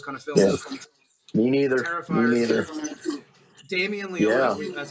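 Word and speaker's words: Damien Leone: not into those kind of films me neither Damian Leon yeah that's how you say his name the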